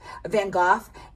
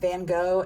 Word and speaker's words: Van Gogh: Van Gogh. I'm always saying it wrong. I was brought up Van Gogh and I'm trying to say it the right